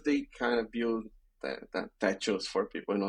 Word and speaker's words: Techo: So was about like the first draft was just because Techo means actually it's Techo that they pronounce it Techo in Spanish.